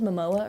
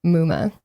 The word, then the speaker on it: Muma: Okay, you said Momoa earlier? I did. I apologize. I said it wrong before. It is Muma.